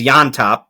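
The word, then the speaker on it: Llontop: The first fight, Marcio Rufi and James Yontop, that is spelled Llont, and somehow that means Jan.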